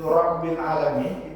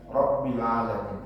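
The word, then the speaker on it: ربِّ العالمين: Kalau dalam kitab ini itu Rabbil alamin, itu kan mesti ada tasdid itu ya, Rabbil, karena hakikatnya tasdid itu ada dua huruf.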